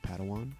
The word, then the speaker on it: Padawan: It's pronounced Padawan.